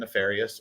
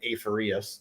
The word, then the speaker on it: Aphereus: we finally got in alder and nefarious or alder and aferius depending on how you pronounce it pretty sure that last one's wrong and then this is